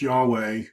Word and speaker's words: Yahweh: Now, this YHWH, which I've pronounced Yahweh, is called the Tetragrammaton, the four letters.